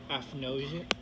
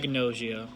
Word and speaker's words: agnosia: Apnosia. And Wait, then so it's pronounced apnosia, right? ag. Agnosia.